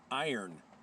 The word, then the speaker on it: Yron: My Yron just sharpened your Yron, and now we know that Yron is not the pronunciation of Yron. Iron is the pronunciation of Yron. Iron sharpens iron.